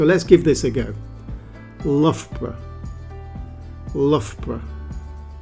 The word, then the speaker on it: Loughborough: let's get it right the first syllable is L like in enough or rough or tough the second syllable is BR now that's B like in butter and R like in rug and you put them together to say lra let's practice this lra